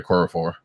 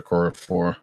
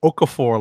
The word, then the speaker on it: Okorafor: Nnedi Okorafor. Right. I kept wanting to call her Okafor, like like all the basketball players who are named Okafor. But so Okorafor writes this book, and